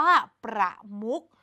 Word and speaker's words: ประมุข: คือ อ่าน ว่า ประมุข คำ ที่ อยู่ ใน มาตรา แม่ กก คือ คำ ว่า มุก นั่น เอง เพราะ เรา จำ ได้ ไหม คะ เด็ก ๆ เรา จะ อ่าน คำ ว่า มุก เหมือน มี ตัว ก ไก่ เป็น ตัว สะกด รวม ถึง คำ ว่า เลข เมื่อ สัก ครู่ นี้ ด้วย กัน เรา จะ อ่าน เลข เหมือน มี ก เป็น ตัว สะกด นั่น เอง ค่ะ เป็น ยัง ไง